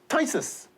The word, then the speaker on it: phthisis: Then we have phthisis. P-H-T-H is pronounced as T.